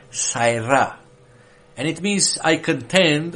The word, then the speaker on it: sara: hebrew root word is saira it's spelled s-a-r-a is pronounced like having a e y between a and r saira and it means i